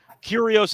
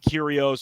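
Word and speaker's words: Kyrgios: pronounce it as yeah I believe the g is silent which I learned a couple months ago but either way curios is the favorite to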